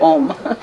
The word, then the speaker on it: Ogham: When it's spelled with O-G-H-A-M, the G and the H are silent, so it's like Om.